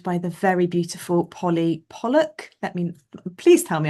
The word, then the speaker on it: Pollock: Today I am joined by the very beautiful Polly Pollock. Let me please tell me I'm u pronouncing your surname correctly. You got you got it right. Yeah. Pollock.